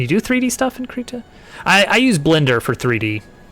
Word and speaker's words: Krita: Krita. Every time I say it, I'm like, that has to be the wrong pronunciation, but we looked it up. That's the right pronunciation.